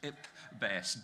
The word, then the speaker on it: IPBES: And I'm assured you're supposed to pronounce it IPBES.